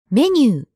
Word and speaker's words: メニュー: But in this case, メニュー. menu sounds just like menu.